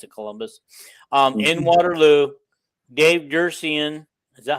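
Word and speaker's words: Duerson: In Waterloo, Dave Dursian, is that how you say his name, of the Bears, was the guest, and he came with a purse. Controversial. Oh, Dave Durson from Notre Dame played safety for the Bears.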